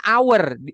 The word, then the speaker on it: hour: H gini nah kan dibacanya kan hour Hnya kan enggak dibaca nih I kan Nah